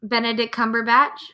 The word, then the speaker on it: Benedict Cumberbatch: Benedict Cumberbatch.